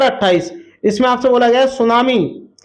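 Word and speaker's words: tsunami: को कहते हैं और सुनामी की जो स्पेलिंग होती है दोस्तों वो टी से स्टार्ट होती है सोना मी ठीक है दोस्तों चलिए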